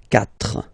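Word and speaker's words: quatre: So remember that even if you get this U vowel here, basically you don't pronounce it, because that's the rule in French. When we get this Q letter and then a vowel after, then we will have to put this U, okay? So you get this Q, U, A, but then the sound that you will pronounce is K, okay?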